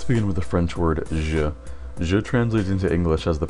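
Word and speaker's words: je: The J sound in French is the soft G sound in English. and J makes a soft G sound whether it comes in the middle of a word like in bonjour or in the beginning of a word like in ja.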